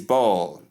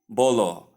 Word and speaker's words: ball: And number 10 is ball, not bolo or bowel or bowel, or as the case may be.